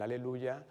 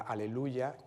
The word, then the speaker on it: aleluya: de eh del fragmento al principio se pronuncia sobre un valor largo es una negra con puntillo y en un tiempo fuerte aleluya aleluya pero poco después esa manera de pronunciación va a cambiar y va el acento se va a trasladar a la tercera sílaba aleluya aleluya eh acentuando la tercera sílaba y ese Aleluya